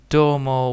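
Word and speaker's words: どうも: So technically it's called do U, and then the U is not there. I'm gonna be typing it like that. There you go. So it's do, domo, domo with this one long, so domo.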